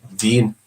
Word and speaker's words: Wien: in Austria, in German, it's spelled with a W. Wien.